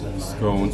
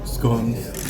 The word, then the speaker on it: scones: So we're here trying our first scones, or scones, depending on how you pronounce it.